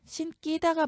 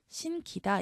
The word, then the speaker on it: 신기다: 그래서 이 점, 이 다만이라고 해서 여기 조항에 나와 있기 때문에 절대로 된소리로 발음하지 않고 평음 그대로 말씀해 주셔야 됩니다.